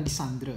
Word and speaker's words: Legendre: Dulu saya sering sejak kuliah itu populernya adalah Lisandre ya, membacanya Lisandre ya, meskipun tulisannya adalah Legendre ya.